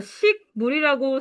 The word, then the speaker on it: 식물: 얘들아, 식물이라고 쓰고서 어떻게 읽어? 기억이 이응됐지. 비음하죠.